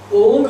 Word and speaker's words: ओं: भी नहीं कर पाते जैसे अधिकांश मंत्रों में बिंदी का अर्थ मकार होता है केवल कुछ एक मंत्रों में बिंदी का जो उच्चारण है वो ग का हो जाता है जैसे ओम उ के ऊपर बिंदी तो वो ओम हो गया लेकिन कुछ स्थानों पर ग का ओंग भी हो सकता है और कुछ परना